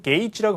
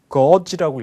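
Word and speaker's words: gauge: 미국식 발음을 다 해봤지만 이거는 게이지라고 발음하는게 다 공이 맞아요 근데 영국 성분께 이번 달 녹음에 참여하신 분이 거지라고 얘기하셔가지고 이건 약간 지역세액이 어딜까 의심이 되지만 어쨌든 여러분들은 그냥 게이지라고 알아두십시오 그렇게 그래서 남의 뭐 기분이냐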